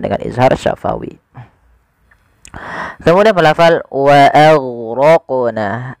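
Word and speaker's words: وَأَغْرَقْنَا: Kemudian pelafal wa aghraqna, a tipis, ghainnya tebal. Nah, ini juga huruf ghain sering terjadi, intabihu, hati-hati jangan sampai memantulkannya. Contoh wa aghraqna, wa aghraqna, ini memantulkan huruf ghain, padahal sifat huruf ghain itu tidak boleh mantul, tidak boleh mantul.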